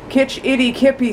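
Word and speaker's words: Kitch-iti-kipi: And I realized at the end of our last video with Kitch Itty Kippy Springs, that's how it's actually pronounced, and the mystery spot, I forgot all of this goodbye stuff at the end, but that's all right.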